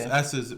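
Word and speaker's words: Esses: It is S's, which is it's spelled E S S E S, but is actually just S's for Skittles.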